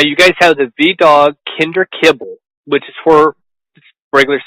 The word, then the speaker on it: Kinder: So Kinder. Lots of people say Kinder. It's like definitely looks how it's pronounced, but the goal is that it's the kindest dog food on the market.